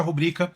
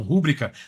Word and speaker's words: rubrica: Nesse caso, eu vou excluir, eu vou exigir apenas a rubrica do Alonso. É rubrica mesmo, tá? As pessoas falam rúbrica, mas é rubrica a pronúncia certa aqui no Brasil.